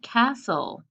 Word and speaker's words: castle: We learned consonant LE, words like puzzle, silent E at the end, but we learned there's exceptions, like castle, where the T is silent too.